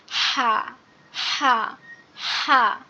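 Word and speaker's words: ح: কিন্তু উচ্চারণের সময় এই বড় হা যেটা, এটার উচ্চারণ হবে গলা চেপে, অর্থাৎ কণ্ঠনালীর মধ্যখান হতে গলা চেপে উচ্চারণ হবে। হা হা হা, এভাবে পড়বেন হা।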